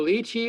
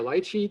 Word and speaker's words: lychee: eaten like chestnuts here's the lychee or light sheet depending how you want to pronounce it it's from asia very